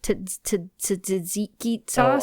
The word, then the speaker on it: tzatziki: And then there was the, that stuff that they put on the gyros, the tzatziki sauce.